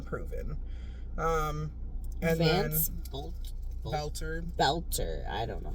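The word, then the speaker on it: Boelter: Um, and then Bolter Belter. I don't know how to say his name. B O E L T E R. Belter.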